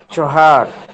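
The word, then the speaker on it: چهار: ইয়ে দো সে চহর এটা চেহর দিছে। চেহর না আপনি চহর পড়বেন। চহর পড়বেন। ঠিক আছে? চহর উচ্চারণ খেয়াল করেন।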